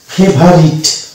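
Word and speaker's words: favourite: তারপরে এটা হচ্ছে কি ফেভারিট, ফেভারিট, তাহলে এখানে দেখতে পাচ্ছি ও ইউ, এখানেও দেখতে পাচ্ছি ও ইউ, তো ও ইউ এ ও কিন্তু সাইলেন্ট হয়ে যাচ্ছে, যেহেতু ও ইউ পাশাপাশি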